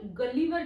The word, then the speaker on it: Gulliver: First है लैमुएल गलीवर, कई लोग इसको गुलिवर भी कहते हैं, कई लोग गलीवर भी कहते हैं, बट the correct pronunciation is गलीवर।